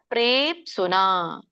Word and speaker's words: ಪ್ರೇಪ್ಸುನ: ಬರುವಂತ ಪ ಹೇಳಬೇಕು ಅಫಲ ಪ್ರೇಪ್ಸುನ ಪ್ರೇ ದೀರ್ಘ ಇದೆ ಪಕ್ಕೆ ಮತ್ತೆ ಸವತ್ತು ಪ್ರೇಪ್ಸುನ ಕರ್ಮ ಯತ್ತತ್ ತಕ್ಕೆ ತವತ್ತು ಬಂದಾಗ